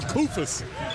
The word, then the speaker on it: Koufos: Texas A&M with DeAndre Jordan and Ohio State with Costa Koufos. Rhymes with doofus, but he doesn't play like one.